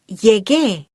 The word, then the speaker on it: llegué: To keep the gar sound, we need to write llegué. Can you hear how ge keeps the ga sound of llegar?